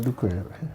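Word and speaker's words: Adukwei: Mensah, whose middle name Adokwe has been a matter. Adukwe has been a matter for an issue of its pronunciation in court. It's called Adukwe. Now, post matters prior to the elections.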